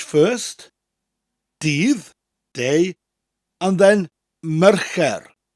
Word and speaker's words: Mercher: So you're saying the word mayor, like the mayor of a town, followed by a rolling R. Mer, and then it sounds like the word care, but with a CH sound to start, che, and a rolling R at the end.